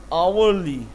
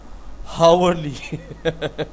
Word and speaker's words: hourly: आवरली, आवरली, आवरली. अच्छा, इसको आवरली लोग पढ़ते थे, मैं पता क्या पढ़ता था? हावरली.